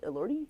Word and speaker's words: Elordi: How do you say his last Elordi?